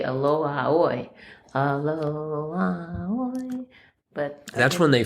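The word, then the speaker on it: Aloha ʻOe: 104 cross Hawaiian song of farewell farewell was aloha o. Oh yes. Uhhuh. Is that how you put it? I did not know how you spell that. I think they say aloha oi.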